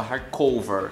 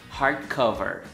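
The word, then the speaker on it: hardcover: na parte da pronúncia embora Maira fala hard cover e eu falava hard cover Então a partir de agora eu vou falar a pronúncia correta hard cover falar em público por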